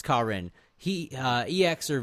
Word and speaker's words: Karin: do you pronounce it I think it is Karin it's not Karen it's kin he uh ex or